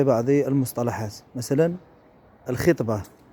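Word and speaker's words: الخِطبة: مثلا الخطبة، نقول الخطبة هي مقدمة الزواج، الخطبة وليست الخطبة. الخطبة هي التي يلقيها الخطيب، بينما مقدمة الزواج هي الخطبة.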